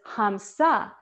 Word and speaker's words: So Hum: our awareness inside so so hum can also be pronounced as hamsa and hamsa in sanskrit